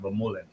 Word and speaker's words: Vermeulen: I listened to Keegan and Alexi Vermeulen. Sorry, Alexi. Vermeulen. I was kind of hoping for Alexi to do a little bit better. Say his name wrong. No, you gotta say the name right. Vermeulen.